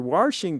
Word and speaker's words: washing: how do you pronounce when you're washing dishes? It's washing, right? There's no R in it, right? Some people say washing and like there's an R. You're supposed to say washing, I guess.